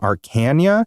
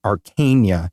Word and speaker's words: Arkanya: So the girl from Arkanya, and last week, I think I was pronouncing it Arkanya, and I really thought that that's how it was going to be, but I watched a dev vlog about the game, and they kept pronouncing it Arkanya. Oh. And I was like, I guess that works, because arcane, that makes sense.